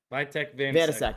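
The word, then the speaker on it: Vítek Vaněček: Vitek Vanasek. Yes, perfect. Good pronunciation.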